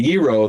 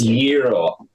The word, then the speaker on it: gyro: I know I've mentioned before the gyro, the gyro or gyro, depending on how you pronounce it. Greek, it's gyro.